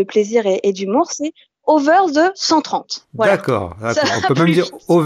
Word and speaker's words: Over ze 130: de ton blog alors on le prononce à la franglais à la bonne frlaise